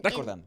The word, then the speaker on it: recordando: but in the phrase you have time to roll your R's. Recordando.